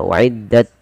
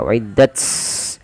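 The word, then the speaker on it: وَأُعِدَّتْ: Maka wa'iddat sedikit saja, tidak banyak-banyak, tidak wa'iddat. Nanti dia mengganti, malah berubah menjadi sa, ya, menjadi huruf sin.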